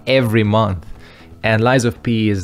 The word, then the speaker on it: Lies of P: I pronounce it, because I keep trying to say Life of Pi, which is the movie. But no, this is Lies of P, which is just way